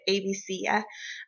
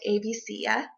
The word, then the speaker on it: ABCya: pronouncing it wrong but i've just always called it abc yeah um and i haven't heard it said any other ways um in my academic circles so when you log on to abc yeah and you you could